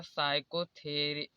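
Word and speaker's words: psychotherapy: यहाँ पर देखिए S से पहले P का आया है इसलिए P कॉमन होगा तो इसे पढ़ा जाएगा साइकोथेरिप।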